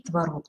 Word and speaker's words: творог: второстепенное ударение Кроме того есть варианты можно сказать творог и творог То есть если словаре